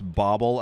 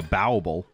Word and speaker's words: bauble: way i read this i read this comment that said though it's interesting to him that i pronounce bobble as bobble like like bobble as bobble but like how do you want me to say it bauble i'm not going around calling an item a bowable that's too close to bible